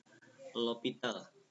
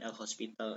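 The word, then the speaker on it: L'Hôpital: Nah itu disebut dengan aturan lopital bukan l Hospital l lopital ya bacanya ya Nah kita masuk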